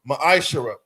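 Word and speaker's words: מעשר: The book of Malachi, chapter 3, verses 8 through 10, means 10th in the Hebrew is pronounced ma'ashara.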